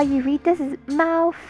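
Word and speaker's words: 貓: Cantonese is pronounced Mao. Mandarin is pronounced Mao. There is a slight difference.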